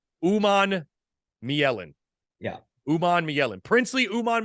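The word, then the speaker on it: Umanmielen: You want to pronounce this? Uman Mielen. Uman Mielen.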